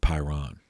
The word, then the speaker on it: Pyrrhon: I've also seen it spelled with an N at the end, Pyrrhon. He was from Elis, E-L-I-S.